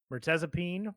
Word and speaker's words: Mirtazapine: We got I don't know how to pronounce this. Can you help me out here, Tyler? Mirtazapine. There you go. Mertezapine by Haley Williams.